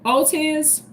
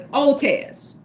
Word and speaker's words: Ortiz: But what about the R? The R is like silent. So it's Otez.